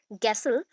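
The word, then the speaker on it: Gesell: करेंगे, ठीक है, बुलर, गैसल एंड थॉमसन। गैसल, और दैट इज कॉल्ड गैसल, को आप जैसल पढ़ सकते हो, कोई प्रॉब्लम नहीं। हम लोग गैस बोलते हैं, जी एस, इस अकॉर्डिंग मैंने गैसल बोला, या फिर आप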